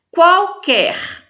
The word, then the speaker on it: qualquer: Qualquer tem 8 letras e 7 fonemas. Esse QUA eu pronuncio U, mas o QUE eu não pronuncio. O QUE é um dígrafo, né? E o qual não é dígrafo, então tem 8 letras e 7 fonemas.